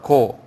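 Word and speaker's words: גוי: 이 고라 불러. 고. 우리 간다는 고 있죠? 똑같은 발음이가 고.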